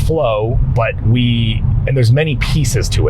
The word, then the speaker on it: FLOA: The FLOA protocol is what we've created, and that stands for fasting like our ancestors, spelled FLOA, pronounced flow, and there's many pieces to it, right?